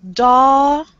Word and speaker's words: daughter: It's a T. Yes. It's a different kind of T, but do not think Liul. You have to learn a new sound.